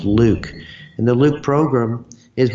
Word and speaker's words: LIWC: and Word Count, LIWC, which I pronounce Luke.